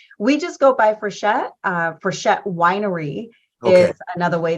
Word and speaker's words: Frichette: I mean, we've heard so many ways that our last name can be pronounced. We just go by Frichette.